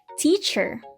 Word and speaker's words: teacher: Like the word teacher, we say T-cher. So we pronounce the first syllable more strongly than the second syllable, teacher. We do not say teacher, but we say teacher.